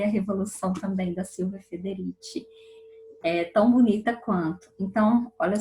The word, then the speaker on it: Silvia Federici: Isso, eu falo com essa pronúncia porque ela é italiana, então eu falo Silvia Federici.